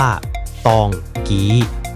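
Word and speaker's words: တောင်ကြီး: ผู้ แสวง หา ความ สงบ ใน ธรรมชาติ ชื่อ ตองจี ใน ภาษา พม่า เขียน ว่า ตองจี อ่าน ว่า ตอง กี๊ หรือ ตองจี้ ตาม ระบบ เสียง สากล ใน ภาษา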